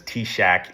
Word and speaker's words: TSAHC: Uh this one's commonly referred to as T-Shack, even though that's not how it's spelled.